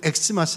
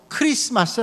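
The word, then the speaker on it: Xmas: 이니셜 입니다 그 모양이 대문자로 x 처럼 보이지만 우리가 이를 든 x 마스 라고 이렇게만 되고 크리스마스 라고 읽어야 맞아요 크리스토스 내 쓰니까 크리스마스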